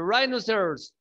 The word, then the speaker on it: rhinoceros: Pero acá toda la palabra, ¿cómo se pronunciaría? Valeria, tú, a ver. Rhino. No, pero rhinos. Todo. Rhinos. Rhinos. No. The rhinoceros, ¿sí?